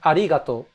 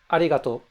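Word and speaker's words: ありがとう: So, sometimes, officially it's spelled arigatou, but sometimes the U is omitted at the end just to make it shorter. Because Japanese people like to say things quickly and short.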